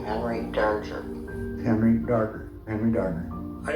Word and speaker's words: Henry Darger: We pronounced his name Henry Darger.